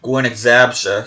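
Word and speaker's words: Górnik Zabrze: Is when I found out that it's supposed to be pronounced that Gornik Zabrze.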